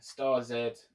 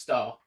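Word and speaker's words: Starz: run that showtime again star zed sorry it's pronounced star but of course it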